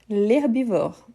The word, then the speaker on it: herbivore: L'herbivore. H muet.